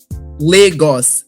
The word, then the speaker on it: Lagos: Legos. Legos. Legos. Like Legos. But Legos. Legos. Like I would say it with a Nigerian accent. It would be Legos.